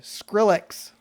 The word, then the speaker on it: Skrillex: Did you say Skrillex? Skrillex, yes. Skrillex. What? Sound like SH. It Oh. sounded like SH. I'm sorry, Skrillex. There you go. Yeah, I probably do pronounce it like a H for some dumb reason.